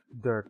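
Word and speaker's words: Dhurke: pulled out the KN I heard Durk okay I am pronouncing his name correct sounds like the Winds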